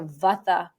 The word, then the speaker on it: vata: So for example, if you're a vata person and in the west we pronounce it vata, a vata person is going to be made up of the elements of air and ether.